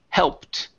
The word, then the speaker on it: helped: So, here we have an ed ending. This e is silent. So, instead of saying helped, the word is helped.